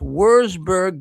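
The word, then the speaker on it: Würzburg: Now, just this week, a few days ago, in Wor, if I'm pronouncing this right, I believe, it's Worsburg, Germany, the incident reveals the brutal brutality behind the supposedly peaceful facade.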